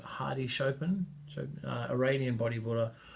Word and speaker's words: Hadi: I mentioned is that Hardy are that pronounced Heidi Chopin Iranian body for